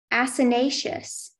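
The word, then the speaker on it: acinaceous: Your word is asinaceous. Can I have all the information? Asinaceous is the only pronunciation.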